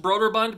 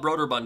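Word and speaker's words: Brøderbund: I believe it's pronounced broader Bond because the O has like a line through it like a stroke so instead of it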